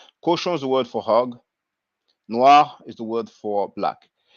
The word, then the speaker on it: noir: it up noir respect n o i r so uh maybe english speakers might want to pronounce it no year or no i but it's noir and uh you can